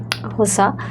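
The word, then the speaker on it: Xhosa: তাই আমি হোসা নামক যেটা আসল উচ্চারণটা হচ্ছে হোসা নামক পোশাকটি পড়েছিলাম।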